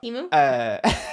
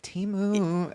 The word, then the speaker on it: Temu: Honorary mention to Temu.